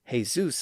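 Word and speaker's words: Jesús: In Spain, that sound had evolved into an h sound or a sound. That's why the name that looks like Jesus in English is actually pronounced as Jesus in Spanish, but it's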